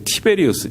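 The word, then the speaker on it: Tiberius: 먼저 1절에서 설명하고 있습니다 티베리우스 딥 의료 라고 되있는데 에 o 원래 발음으로 이제 티베리우스 줘 티베리우스 황제는 로마의 황제 얻습니다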